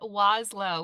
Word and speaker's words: Wlazlo: I am Wlow with a really annoying last name that that uh looks nothing like it sounds. Yeah. Yeah. So, you pronounce it WLO. Yeah. The first L is silent and it's just a